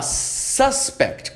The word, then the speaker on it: suspect: Então, recapitulando aqui, se eu falar suspect, dando ênfase no começo, ó, suspect significa o suspeito.